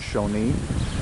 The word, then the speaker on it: Shoshone: Hey guys, coming to you from the famous Crowbar Cafe and Saloon in Shoshone or Shoshone, California. I think the locals do pronounce it Shoshone.